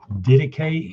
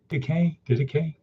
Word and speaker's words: Didache: So again, theme of today, Didache, anyone? Didache. Try to say that. Didache. It looks like it's pronounced Didache.